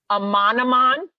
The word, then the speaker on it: Amanaman: Amanaman.